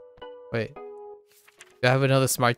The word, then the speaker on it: は: は Wa, okay, particle that defines the topic, right, in a sentence. Wa is pronounced wa.